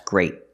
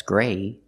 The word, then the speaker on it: great: parking spot so remember pronounce the t's at the end of your words they're not silent they're stoppedees that's great not that's gray that's great use a stop T today we're going to